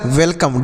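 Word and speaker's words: welcome: का उच्चारण नहीं करेंगे किसी शब्द में अगर लास्ट में इ का प्रयोग होता तो इस इ का उच्चारण नहीं किया जाता है मतलब इसे नहीं पढ़ते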